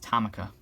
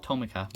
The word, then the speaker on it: Tomica: always believe it's called it's pronounced tamaka some people call it tomoka which is fine you know but i i always say tamika i like that better there are my hataroku's